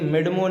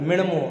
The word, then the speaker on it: मिणमो: एक ये मिडमो नहीं मिणमो, हाँ वो एक नाक का उच्चारण आना चाहिए, मिणमो मिणमो, ठीक है।